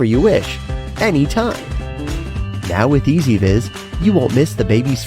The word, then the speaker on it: EZVIZ: It's pronounced EZVIZ.